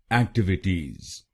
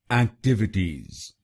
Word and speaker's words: activities: इसकी सही प्रोनाउंसिएशन है एक्टिविटीज। एक्टिविटीज। इस शब्द में 4 शब्दांश हैं। पहला शब्दांश है AC, दूसरा शब्दांश है TIV, तीसरा शब्दांश है I और आखिरी शब्दांश है TIES।